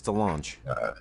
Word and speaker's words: DeLonge: pronounce this last name Tom Delong or delange of blink we're gonna get a lot of hate on this if I pronounce this wrong sure a lot of Blink 182 fans out there it's Delong thean okay is apparently